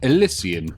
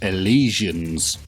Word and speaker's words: Elysian: let you know that alysian is how I like to pronounce it I do however know that many people out there like to call them the alians to me this sounds like some sort of Affliction so I refuse to